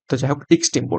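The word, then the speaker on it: extempore: হবে option C এক্সটেম্পোর আমি একটু উচ্চারণটা ভুল করেছিলাম আগে এনটেম্প বলেছিলাম এক্সটেম্পোর এক্সটেম্প মানে হচ্ছে কোনরকম প্রিপারেশন ছাড়াই বক্তৃতা দেয়া।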